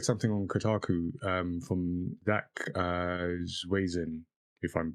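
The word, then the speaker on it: Zwiezen: And I read something on Kotaku from Zach Zwazin, if I'm pronouncing that right. Svisen, I think. Svisen, Zach Yeah. Svisen.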